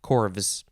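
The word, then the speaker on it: corves: word mmm corv or actually i think it would be corvs or corv yeah probably corvs c-o-r-v-e-s it doesn't say how it's pronounced but it is the plural of korf c-o-r-f which we could probably do a quick check because i think the korf yes plural chords that's how it's pronounced corvus that is it for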